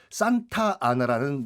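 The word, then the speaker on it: Santa Anna: 잠깐 황제가 잠깐 있다가 바로 이제 그 다음 해에 산타 아나라는 멕시코 초대 공화국 대통령이 취임을 해요. 어느 나라예요? 멕시코예요. 멕시코에. 예. 산타 안나. 뭐 영어식 발음은 산타 아나 대통령이 취임을 하는데, 너무 땅이 넓은 거예요.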